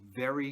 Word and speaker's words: very: But if you pronounce it with the B sound, like in botella or varón, gringos will think you mean berry, like a strawberry or a blueberry.